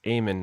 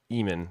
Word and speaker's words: Eamon: Remember, it's Eamon, not Eamon, as Jason likes to pronounce it over at Hey Did You See This One, which I don't have a banner for.